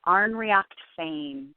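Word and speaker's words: Ár nDraíocht Féin: a test it's a it's an Irish Gaelic so that's why it's so tricky but it's pronounced on react Fame so it's okay we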